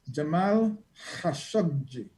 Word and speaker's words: Jamal Khashoggi: i want to say his name correctly it's jamal khashoggi very good and that brings uh he you